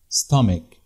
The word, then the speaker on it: stomach: عن مخرج صوت الاس، زي كلمة stomach اتنطقت stomach، هنا السي اتش ما اتنطقتش تش، ولذلك بتجمع باضافة حرف